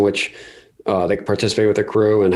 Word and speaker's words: akru: Pronounces Accrue. You accrue your wealth over time, and you build that generational wealth.